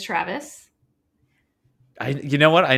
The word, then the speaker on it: Traves: not even close um my last name has two syllables it is Travis I you know what